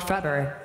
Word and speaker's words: Frubber: really pliable foam rubber called frubber, pronounced like fa, rubber, and I guess that's short for face rubber, or flesh rubber maybe, or fancy rubber maybe.